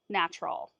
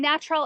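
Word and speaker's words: Gnatrol: And I've also got natural right here.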